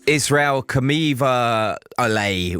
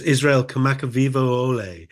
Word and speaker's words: Kamakawiwo'ole: Well, I see Israel Kamakawiwo'ole with that, I think, is the butchered pronunciation of the artist. But tell us about that one. Okay, yeah, it's remarkable. Yes, it's Israel. I practice my Hawaiian pronunciation. I believe it's Israel Kamakawiwo'ole. I hope for any Hawaiian listeners. That's how you do it.